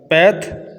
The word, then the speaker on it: path: সুন্দর কাউন্ট গণনা করা প্যাথ প্যাথ বলা যায় পাথ বলা যায় ফাঁসও বলা যায় এটার বিভিন্ন উচ্চারণ রয়েছে প্যাথ পাথ প্যাথ পাথ ফাঁস